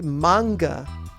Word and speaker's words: manga: the thing about manga we call it manga but the prep pronunciation is actually manga and when they first